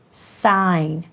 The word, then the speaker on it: sign: word is sine now this word is spelled a little differently since it has that G that is not making a sound but it does have the letters that you hear when you say the word and it makes sense